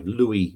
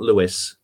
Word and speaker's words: Louis: Ella oh you is so to pronounce the French way Louis not Louis and apparently he was